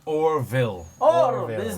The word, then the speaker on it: Orel: or, A-L-E. O-R-E-L. Or. I thought it was Oro. I've been wrong. I thought it was Oreo. Not Oreo. Oreo. Yeah. Or. He's clearly saying Orville. Or.